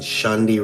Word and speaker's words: Shandi: And Shandi rhymes with candy. Shandi?